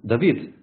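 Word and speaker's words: דָּוִד: тоже есть такое слово можно вообще это читать не как голосов А как буква вав тогда это будет звук в гда будет имя Давид Давид вот я вам хотел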